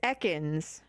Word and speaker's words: Ekans: It's Ekans.